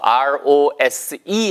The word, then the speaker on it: rose: R-O-S-E 할 때 그 rose는요. 예, 일단 발음이 왜 rose가 아니에요? 왜 rose, z 발음이 나요? s는 s 발음 나는 거 아니에요?